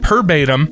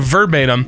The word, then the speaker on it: verbatim: I had a manager who said perbatim instead of verbatim and I winced every